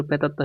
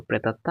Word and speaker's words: প্রেতাত্মা: ফলা আছে এই যে ত আর কি আছে ম ফলা আছে ত আর ম ফলা থাকলে দুইটা ত হয় কি হয় দুইটা ত এই যে দেখো দুইটা ত তাহলে এখানে দুইটা ত লিখো লিখছো লিখার পর যেহেতু এখানে আকার আছে তাহলে শেষ একটা আকার হবে আর এই যে প্রথম কি হসন্ত দিতে হবে তাহলে ছিল প্রেতাত্মা হয়ে গেছে দেখো প্রেতাত্মা আর চন্দ্রের বিন্দু দিতে হবে কেন যেখানে ম ফলা আছে